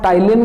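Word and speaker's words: Ptyalin: पी तो start हुंदा है लेकिन पी इहदे विच की हुंदा है? साइलेंट हुंदा है, PTAYLIN।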